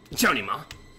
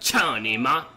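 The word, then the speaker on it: cao ni ma: No, Johnny, ma. You motherfucker. Back out of that. Cha-ni-ma. Teach me how to say it then, bruh. Teach me how to say it then. It's cha-ni-ma. C-A-O-N-I-M-A. Cha-ni-ma.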